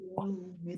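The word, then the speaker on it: يَوْمِ الدِّينِ: Nah, kata yau, hati-hati bunyinya menjadi bunyi o. Yau. Maliki yaumiddin. Nah, tapi bunyinya kayak ke u gitu ya, dilembutkan. Bunyinya ke u dilembutkan.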